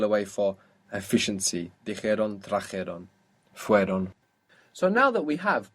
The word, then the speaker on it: fueron: add on ieron, but we will find it very difficult to pronounce fuieron, fuieron. So the E sound, the I, fell away. So how would that sound? Fueron. Fueron. So the I, the E sound, falls away.